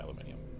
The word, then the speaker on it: aluminium: concede against the mechanisms it makes more sense to pronounce it aluminium because that's the the suffix that's used most often for a metallic compound or not a compound